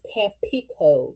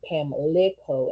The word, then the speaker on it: Pamlico: out into Pamlico River, or also known as Pampico River, because that's how it was pronounced and all of that back in the 1500s. But today's, the way they spell it and pronounce it, they say Pamlico instead of Pampico, like with a P, Pampico.